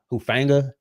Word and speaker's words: Hufanga: then they added to what how you pronounce his name? Hufanga.